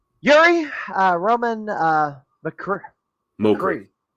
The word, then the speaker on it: Mokriy: All right, Yuri uh Roman uh McCree. Yes. Yeah. The last name was in I would never have pronounced your last name without help.